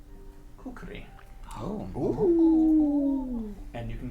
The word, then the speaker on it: kukri: a curved, thick blade, which I believe is pronounced kukri.